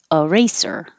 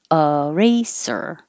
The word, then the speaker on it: eraser: is not stressed so it can sound like uh because it's not stressed or it can sound like e eraser eraser or eraser eraser this